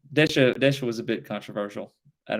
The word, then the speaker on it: Desha: But the outgoing governor, which was Joseph Desha, or Deshay, I believe is how you pronounce it.